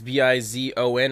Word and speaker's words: Bizon: more with the Bizen it's b i z o n I think that's how you pronounce it as bizon that's how I